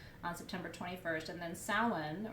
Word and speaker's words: Samhain: september 21st and then samhain or so when depending on how you pronounce it is the third harvest